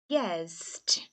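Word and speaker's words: guessed: e é um s Então como nem T de tatto nem d de dado você não fala esse e vai ficar o guess mais o som do d guest e eu v v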